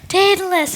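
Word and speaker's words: Daedalus: Pegasus rhymes with Pegasus. No idea. I have no idea. Datalus.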